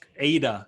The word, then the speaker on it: AIDA: So it's AIDA, that's how you say it.